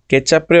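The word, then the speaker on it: ketchup: কেচাপরে ওরা একটু জাস্ট উচ্চারণটা চেঞ্জ করে বলে কেচুপ.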